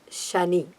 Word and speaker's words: Shani: So Shanaishcharaha, at least like an acronym if you want to use it, Shani, Shanihi, Shanihi. Like that. Sha, again the Shiva Sha, the palatal, Sha, Ni.